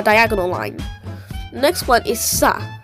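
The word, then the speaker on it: स: line next one is sa which makes the s sound as in super and it's exactly like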